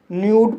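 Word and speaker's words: nude: एन को ना पढ़ा जाएगा, यू को यू पढ़ा जाएगा, डी को डा पढ़ा जाएगा, ई साइलेंट रहेगा। इस तरह से न्यूड पढ़ा जाएगा और न्यूड मीन्स निर्वस्त्र।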